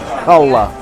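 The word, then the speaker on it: challah: eggs salami American cheese lettuce Mayo served on hola it's spelled c-h-a-l-l-a-h and it's pronounced hola it's egg loaf bread uh true true but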